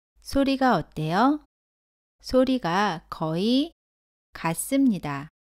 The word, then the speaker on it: 어: 발음합니다 따라해보세요 다음 모음은 어 입니다 어는 먼저 왼쪽에서 오른쪽으로 쓰고 위에서 아래로 씁니다 어 를 발음할 때는 아 보다 입을 살짝 다물고 입은 내밀지 않고 발음합니다 따라해보세요 어 다음은 5입니다